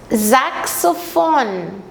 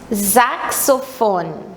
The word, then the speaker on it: Saxophon: Mas notem bem a pronúncia do X. Das Saxophon. Das Saxophon.